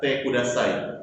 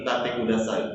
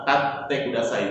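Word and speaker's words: 立ってください: tate kudasai, bukannya tate kudasai. Kalau dibaca cepat itu hanya satu huruf, berarti tate kudasai. Tapi bukan itu. Di sini adalah tate kudasai, memiliki dua huruf T di tengah.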